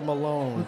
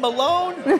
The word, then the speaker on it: Milone: Her name is Deborah Milone. She's Milone, is it pronounced it's that Milone, way? It's Milone, correct. It's not Milo, because you've got an I in there. It's a Milone.